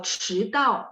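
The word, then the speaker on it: 迟到: Kalau 迟到, d baca t ya.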